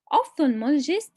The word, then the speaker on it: ophthalmologist: Ophthalmologists specialize in eye and vision care. How to pronounce this word? We divide it into two parts, ophthal and mologist. Ophthalmologist.